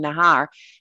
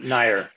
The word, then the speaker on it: Nair: rubinoff aaron benjamin and teren nahar neher sorry it's probably neher is it tyrone how do you say your name this was that close enough correct correct yeah tyrone nair nair great great glad